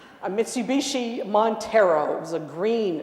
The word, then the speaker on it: Mitsubishi: We were towing our first camper with a Mitsubishi, I said it right this time, a Mitsubishi Montero.